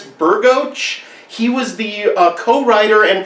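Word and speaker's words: Bergoch: On our way into the theater, we ran into, I think his name is pronounced Chris Burgoch.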